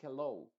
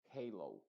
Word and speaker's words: halo: pronuncian como Data Danger Halo Halo Esto no es hello es diferente es otra palabra se escribe diferente esto es Halo Label paper si tú